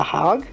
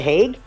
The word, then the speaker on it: Hague: War jailed for life in the what the hog the hog the Hague the Hague pronounced both ways so okay so the guy